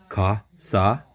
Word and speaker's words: casa: I thought so because casa, right? Casa? Za. Z. Oh, Casa. S is Z. Unless it's two S's, then it's sa.